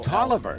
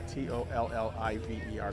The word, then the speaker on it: Tolliver: Oh, Tolliver. Yeah. T O L L I V E R is how you pronounce it.